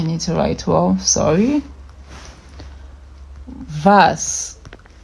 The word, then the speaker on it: W: V. W is also pronounced V. So you can see that's like a change. Veta. That's Veta. Vas. I need to write well, sorry. Vas.